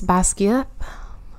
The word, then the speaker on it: Basgiath: And like, it's like Basgiath, I guess. Basgiath? Actually, that's how it's pronounced, for Fourth Wing.